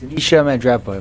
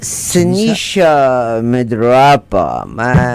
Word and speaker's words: Sinisa Mandrapa: No, we'll talk to Sinisa Mandrapa. Did I say it right? Yes, Sinisa Mandrapa. Perfect, yes. Sinisa Mandrapa.